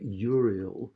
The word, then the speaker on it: Uriel: later in the poem, names like Uriel, which are meant to be pronounced as 2 syllables, which can make the reader stumble.